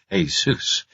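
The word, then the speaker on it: Jesús: doing so I hurt my parents the Spanish pronunciation is Asus although most North Americans pronounce it as if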